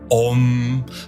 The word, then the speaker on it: Om: When pronounced correctly, Om consists of 3 distinct syllabic vibrations.